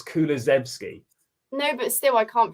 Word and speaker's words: Kulusevski: It's so hard to pronounce. Go on, try again. Kuluevsky. No, Kuluevsky? it's just spelt wrong there. It's Kulusevski.